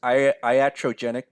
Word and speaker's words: iatrogenic: it so erogenic disease I don't know how you pronounce it but it's it the way that I pronounce is iatrogenic disease so is a disease